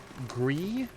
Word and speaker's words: Gris: On the other hand, Gree is how I think it's pronounced.